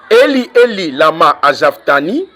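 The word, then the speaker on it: אֵלִי אֵלִי לָמָה עֲזַבְתָּנִי: Donc, lorsque Yoshua dit Eli, Eli, lama azavtani, Eli, Eli, lama azavtani, ça c'est la prononciation hébraïque, il voulait dire que j'ai porté, on a laissé tout derrière moi.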